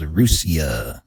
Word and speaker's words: Russia: one in Ohio called rusia spelled like Russia but we don't have